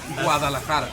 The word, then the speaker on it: Guadalajara: How do you pronounce Guadalajara? Guadalajara.